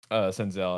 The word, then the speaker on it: Senzel: Senzel. I said Sensel.